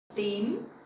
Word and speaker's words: tím: Tím, tím. So the T sound in Vietnamese you will pronounce more stronger and sharper, like tờ, tờ. So it's not t in English, okay?